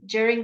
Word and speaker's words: during: then during all right you can't say during it's very very formal but you when we speaking you're often just juh juh sound during during the epidemic during our